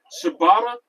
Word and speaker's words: Shibata: Shibata sounds like a type of bread, bro. There's one dude named on AEW who's is Shibata. It's spelled with an S, but it sounds like the bread that starts with a C.